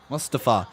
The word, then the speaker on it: Mustafa: Mustapa. I like that they're actually pronouncing his name properly now. Mustafa. Mustafa. Mustapa. That's what it is.